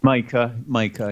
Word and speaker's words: Micah: Or Misha, I do not know how to pronounce it. Micah, yes.